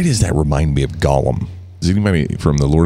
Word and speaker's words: Gollum: Is that two syllables? Or Gollum? Gollum. Gollum. Two syllables, yeah.